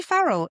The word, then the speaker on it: Farrell: How do I pronounce It's your name, Farrell.